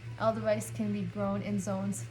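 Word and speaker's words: Edelweiss: So next is Aldeweis, or Aldeweis. I say Aldeweis because it reminds me of like a German word, and the W should be pronounced as a V, so that's why I pronounce it like that.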